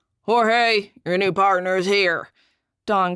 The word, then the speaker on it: Jorge: month or so it's Jorge Roland he pronounced it the Mexican way with an H Jorge your new partners here